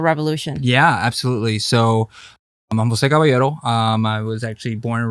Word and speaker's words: Jose Caballero: I am Fiorella Isabel, and I am here with a very special guest, Jose Caballero. Am I saying it right? Yes, that's right. Okay, that's the Spanish way of saying it.